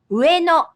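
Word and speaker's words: 上野: For example, Ueno is the name of an area in Tokyo with a very large park. It has three syllables. Ueno.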